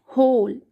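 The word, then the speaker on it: whole: N can't then the होल डब्लू क्या है य पे साइलेंट है एच ओ हो एल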